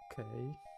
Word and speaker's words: Qoorik: What was the pronunciation? It's Qoorik.